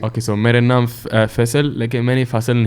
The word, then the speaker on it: Faisal: say my name is yeah um fissile yeah there you go yeah so now if you convert into English it just becomes fast one okay so mad enough fissile look at many faster than he I'm not